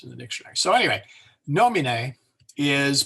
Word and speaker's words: nomine: Now, if the second to last syllable is a short vowel, then you go to the third syllable from the end for the stress. So there is nomine, or name. So the E is short, the I is short, the O is long.